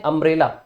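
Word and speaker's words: umbrella: लेकिन अगर आप यू से ही वर्ड देखते हैं अम्ब्रेला, तो अम्ब्रेला में आपको अ की साउंड आती है, तो इसके लिए हम एन यूज करते हैं।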